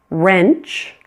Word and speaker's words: wrench: Sometimes you'll find words that begin with WR. In this case, pretend it is just an R. That W is silent.